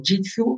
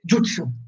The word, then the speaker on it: jutsu: Per rispondere una volta per tutte, Luigi Giudice, la differenza è solo che gli occidentali hanno inteso jitsu e lo pronunciano così, ma è sbagliato. In giapponese si legge jutsu, vuol dire tecnica, eccolo qui.